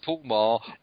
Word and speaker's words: Paul Meagher: Anyway, it's Paul Meagher.